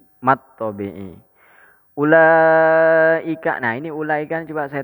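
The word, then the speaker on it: أولئك: Jadi langsung aja bacanya ulaika gitu. Ulaika gitu.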